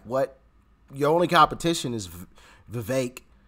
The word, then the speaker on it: Vivek: Your only competition is Vivek, right? I think that's how you pronounce his name, Vivek, instead of Vivek, how I've been pronouncing it.